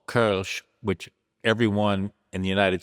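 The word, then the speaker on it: Kölsch: And one of the styles we brew is called Kch, which everyone in the United States pronounces Kulch.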